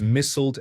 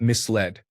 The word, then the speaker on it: misled: I've always heard people say misled, but when I'd read the word, I would pronounce it as missled and not misled.